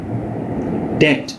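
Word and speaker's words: debt: ठीक है, DEPTH, डेप्थ, डेट, ये जो कर्जा है ये डेट है, इसमें बी साइलेंट है।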